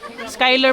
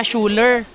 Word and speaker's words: Schuyler: Skyler pala pag-pronounce. Hindi pala Schuler. Ala ko Schuler.